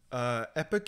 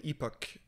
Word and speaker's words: epoch: Epic and Epoch, they're both valid pronunciations for Epic.